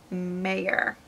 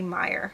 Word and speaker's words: Meyer: confused with Stephanie Meer which their names are pronounced are written the same so I don't know why they're pronounced so different but Marissa mayor Stephanie Meyer yeah this is the